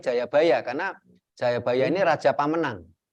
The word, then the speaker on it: Jayabaya: Jayabaya mohon maaf sebelumnya bacanya bukan Joyoboyo tapi Jayabaya karena Jayabaya ini Raja